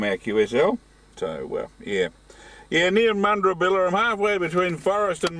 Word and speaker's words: Mundrabilla: Mundrabilla, Ed. Copy? Oh, is that Mundrabilla, mate? Yeah, all right. You can pronounce it better than me, all right?